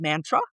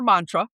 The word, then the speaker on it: mantra: And what they told me was, you've heard that word and it's pronounced a few different ways. It's called mantra or mantra depending on who you talk to.